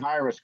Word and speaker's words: Hiraes: I'm pronouncing Hiraes correctly, so I don't look like an idiot, right?